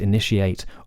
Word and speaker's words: initiate: And negotiate, propitiate, initiate, all in modern English should technically be pronounced with that sh sound, she ate.